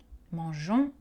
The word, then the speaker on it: mangeons: le jeu du verbe on ajoute un e muet exemple au présent avec nous nous mangeons à l'imparfait je mangeais le eux n'est pas prononcé mangeons manger exemple nous mangeons